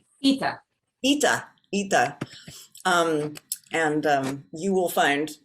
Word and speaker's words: Ieda: Am I pronouncing that right, Heidi? Ieda? Ita.